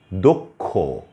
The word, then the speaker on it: দক্ষ: আমি কিছু শব্দ বলছি যেমন ধরুন দক্ষ এখানে ষিয়টা শেষে ব্যবহৃত হয়েছে উচ্চারণ হচ্ছে ক ক্ষ এর মত তারপরে হচ্ছে